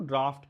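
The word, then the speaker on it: draught: एक आपका हवा का झोंका आया, द मूवमेंट ऑफ, या आपने कहा बाउट ऑफ एयर, तो उसको आप ड्रॉट क्या कहते हो? ड्राफ्ट कहते हो।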